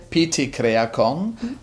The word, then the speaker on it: PT Creacon: the pronunciation so I'd love to hear you pronounce it well it's p kakon uh it's short for Creative concept and it's